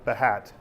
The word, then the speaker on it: Behat: about behavioral driven API development using Symphony and mahat I believe that's the correct pronunciation when you're not the United States I